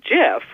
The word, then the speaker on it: GIF: say say give but the guy who invented them says it should be pronounced Jeff so we put that in there because he said he got it he developed them for CompuServe and he pronounced it that way to the senate like gifs the peanut butter and it